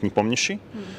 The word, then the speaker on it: Nepomniachtchi: Well, basically, in Russian, it sounds like a full name sounds like Nepomniachtchi. So once like someone would be as you know, as skillful to pronounce it like fully and pronounce it correctly, I would be just